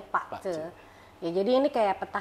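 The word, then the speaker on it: 八字: Ya Pak Ce, tulisannya Bazi, bacanya Pak Ce.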